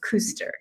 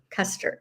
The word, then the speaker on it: Kuster: kuu s t r I'm married to a Swiss guy so it's pronounced Custer instead of kuster and you buy the